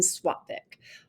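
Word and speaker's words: sattvic: have tamasik rajasek and swatvik all right so that s and Sanskrit is pronounced with a swa sound like it's got a w after the S and these are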